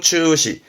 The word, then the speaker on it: 中止: 발음은 추시, 추시. 음으로는 시루가요.